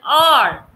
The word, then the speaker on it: hour: An is used when H is silent.